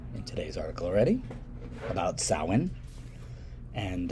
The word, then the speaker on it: Samhain: a rock of star right no but you pronounce it samhain that's that irish thing halloween was definitely a memory of the of samhain which was the pagan new year of november